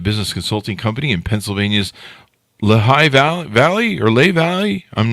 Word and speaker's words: Lehi: I am well, and it's Lehigh Valley. Lehigh? Wow. Okay. There you go. I mean, technically, it's Lehigh. Duh. Here in Utah, where we're at, we have Lehigh as well, and it's pronounced Lehi.